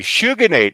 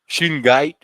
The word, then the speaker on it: Shungite: Anyway, Shuganate. I was going, Shuganate. I don't think that's how you pronounce it. Shuganate. Look, it's a rock. There it is. There's a Shuganite bearing rock. Shuganite. Shungite.